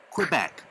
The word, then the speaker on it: Quebec: Quebec. Romeo. Zulu. November. Hotel. Juliet. Sierra. Alpha. Okay, now please, in this table you see the stressed syllable symbols, and the Quebec, the second syllable is stressed.